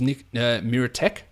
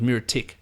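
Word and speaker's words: Micić: The announcers need to learn how to say his name. One team it was Nick Miratech, the other one was Miritic. It's Titch. Come on, figure it out.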